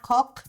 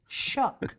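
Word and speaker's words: Kök: there called the shook it's spelled k-o-k with the two little dots over the o it's not cook it's not it's shook that's how we say it in sweden but anyways my brother's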